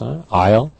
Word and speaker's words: aisle: here in this unit aisle remember that a-i-s-l-e strange spelling it's a French spelling silent s Isle groceries pound here not